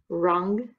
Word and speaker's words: wrong: the wrong job okay notice wrong as our silent w we just say the o sound wrong job okay these are